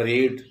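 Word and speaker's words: read: तो हो जाता है Y will mother have रीड, रीड से क्या होगा, रीड रेड रेड, वही स्पेलिंग है, रेड पढ़ा जाए।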